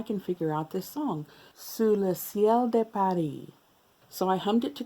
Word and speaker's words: Sous le ciel de Paris: so if you know su de siel de paris su le ciel de paris well i said it right once before go with that one su le ciel de paris if you've ever heard